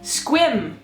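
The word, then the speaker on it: Sequim: This one is pronounced squim.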